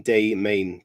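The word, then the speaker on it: Des Moines: it's D is in day main day Main and the S is silent so there's my geography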